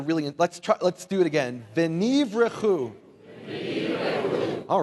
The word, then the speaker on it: venivrechu: And the Hebrew phrase, will be blessed, those Hebrew words, is the one Hebrew word, v'nivrechu. Can you say v'nivrechu? I don't feel like you're really, let's do it again. V'nivrechu.